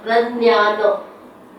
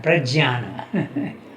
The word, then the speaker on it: Prajnana: In Marathi it is known as Pradnyano. Nyan म्हणतात. Nyan. In Sanskrit you pronounce it like that. Jnana, Jnana, Prajnana.